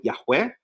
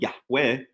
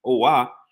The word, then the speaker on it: Yahweh: emphasis of the word Yahweh, even if you pronounce it, which I've come to believe is incorrect, Yehovah, the hey is the